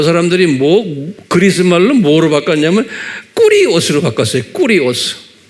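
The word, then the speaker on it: κύριος: 꾸리오스. 그래서 이제 킹 제임스 성경이 1611년에 만들어졌는데 이때도 이제 제호바라고 구약에 말하기도 하고 또는 신약은 the Lord, 꾸리오스 이렇게 발음해요. 꾸리오스.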